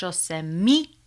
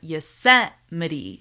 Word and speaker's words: Yosemite: He said Yosemite instead of Yosemite, okay? So he changed the stress of the word, he did not use